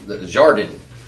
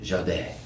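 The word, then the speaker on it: jardin: I was like, "How do you pronounce jordan jordan?" She's like jade. It's like ah that sounds a lot better than jordan. So it's a French word for garden.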